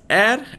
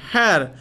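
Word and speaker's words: heir: vowel sound again see the word hei ya hear the pronunciation is air and not have had the pronunciation bin hair then we will put article or before it but the pronunciation is air and not hair H remains silent over here and that's why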